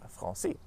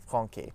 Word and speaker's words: français: found in the word français. Otherwise, if we didn't have the cédille in this word, it would be pronounced as franqué, and that just sounds wrong.